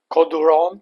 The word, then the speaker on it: Côtes du Rhône: If you missed it about a year ago, link below, Châteauneuf-du-Pape, so one of the most prestigious appellations in Rhône Valley, Côtes du Rhône to say it properly.